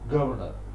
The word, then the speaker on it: governor: For example, you say governor, Governor. They swallow one syllable. The second one. They mix up v and instead of saying governor, governor. Actually, the word has three syllables. In American English, they say governor. Okay. In British English, governor, swallowing one syllable.